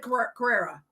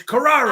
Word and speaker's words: Carrara: When I first got together with him, I said Carrera. It's Carrara.